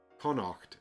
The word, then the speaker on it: Connacht: Oh, in Tainted Grail, it was adapted to Kaunacht, which has an extra syllable. Ku-a-nacht. Okay. Connacht is the western province of Ireland.